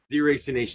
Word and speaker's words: deracination: It's Like eracination. Deracination, yes, thank you.